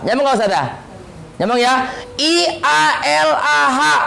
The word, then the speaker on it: ialah: I-A-L-A-H. Bacanya apa? I-A-L-A-H. Kenapa nggak kita bunyikan ialah? Padahal nggak ada y-nya di situ. Kenapa? Karena ada bunyi yang tidak sesuai dengan tulisan.